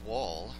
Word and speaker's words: Wohl: It is an honor and a privilege to have Jacob Wohl. Please tell me I pronounced it correctly today.